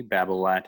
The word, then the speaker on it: Babolat: we'll put that on the side note uh it's spelled b-a-b-o-l-a-t babel at has a wide variety of shoes uh uh